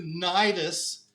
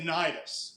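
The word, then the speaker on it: Cnidus: to get up to nidus it's got a C in front but you don't say STIs you just say nidus is the way it's pronounced say how do you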